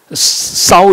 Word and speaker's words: 稍: 为无为，稍有这个少要讲念成稍，如果还